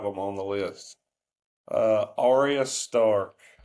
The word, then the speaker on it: Arya: Up next, um, from Game of Thrones, I hope I pronounced this right. Ara Stark. Is that how is that right? Ara. Arya.